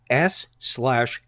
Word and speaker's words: S/H/IT: Just to make the whole thing a little more slashy and streamlined, it can be written as S/H/IT and pronounced shit, as in so-and-so identifies as a shit, and Ezra Miller, to his core, is shit.